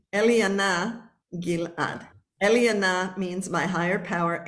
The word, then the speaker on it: Eliana Gilad: My name, it's a Hebrew name, Eliana Gilad.